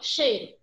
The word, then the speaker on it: cheiro: Quando eu chego lá em cheiro, ó, cheiro. Primeiro eu percebo na pronúncia que o I se apoia no E. Tanto é que a gente quase não pronuncia, ó, cheiro.